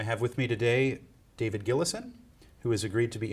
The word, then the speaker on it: Gillison: sea I have with me today David gillison who has agreed to be interviewed for the